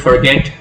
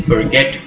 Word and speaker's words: forget: In the word forget, you stress the second syllable. It's forget rather than forget.